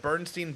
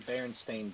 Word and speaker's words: Berenstain: It's like the Bernstein Bears. There's no such thing as the Bernstein Bears. It's actually the Berenstain Bears.